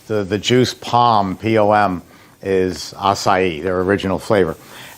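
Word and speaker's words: açaí: so acai um impossible you have to say it right it took me a year and a half to learn how to say it because otherwise you're going to embarrass yourself a-c-a-i or akai or aki it's impossible to say but uh once you catch on that it's acai it's quite easy it's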